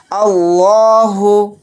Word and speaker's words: اللہ: لا، اللہ پیش ہو، اللہ، تو یہاں پر دیکھیں لفظ اللہ کے لام کو موٹا یعنی پر پڑھیں گے، کیونکہ لفظ اللہ کے